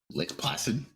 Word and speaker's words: Lake Placid: or early 2000s called Lake Placid Lake Placid yeah I'm pretty sure that's how you pronounce it um it's p-l-a-c-i-d I'm sorry it happened like flaccid and um this alligator